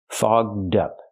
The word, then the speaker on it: fogged up: We have to use the open vowel all and the voice g and d fogged up. To help with pronunciation, link the D sound to the second word up. So you have dup together. Fogged up.